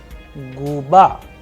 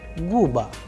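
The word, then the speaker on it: губа: So the udareni was on a, so the sound would be guba, not guba.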